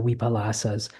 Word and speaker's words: vipallāsa: In poly there's no w but a v sound. So um just from coming in Thailand from Thailand I I use a lot of more of the Thai pronunciations of it. So so my v's come out as w's. So um so uh so the the vipalas or the weipalas.